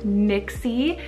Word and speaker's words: Nixi: Nixie, spelled N-I-X-I, Nixie.